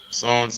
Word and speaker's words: sans: Sans interdit. I didn't get that. Can you please repeat? Sans interdit. Okay. So it's incorrect. It's sans in the meaning directions. Okay. Sans, and here the S is pronounced.